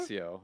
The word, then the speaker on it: Amancio: Is it not Kit and Armancio? Caboodle- Is that not how you It's say his name? Amancio. There's no R.